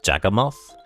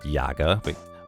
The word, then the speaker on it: Yagamoth: ways that's very fair the original way I intended to pronounce yagamoth was jagam moth but at some point so many people just said Yaga like with a soft e instead of anything else